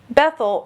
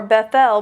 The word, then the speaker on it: Bethel: Bethel or Bethel means house of God.